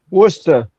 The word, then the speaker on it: Worcester: Am I pronouncing that right? Worester. Worster.